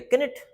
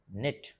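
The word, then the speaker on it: knit: मैंने बोल दिया किट। जबकि क्या लिखा है? नेट। इसमें हम के को साइलेंट कर देते हैं।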